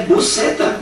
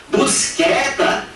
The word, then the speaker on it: buceta: Ele vai dizer à aluna que a pronúncia é buceta, buceta, e que buceta tem o significado de caixinha pequena.